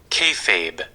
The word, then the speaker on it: kayfabe: All right, so hold on a little for the pronunciation. Ready? Yeah. Kayfabe.